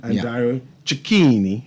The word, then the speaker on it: Dario Cecchini: And before I speak to Dario, Dario Cecchini, I'm trying to pronounce that name correctly, right? Perfect. I want to outline what to expect tonight because everything's sold out.